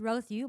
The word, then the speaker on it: Rose Yu: My name is Rose Yu. My name is not here, but that's okay. It's very easy to pronounce and remember. Rose as in flower and you as in you.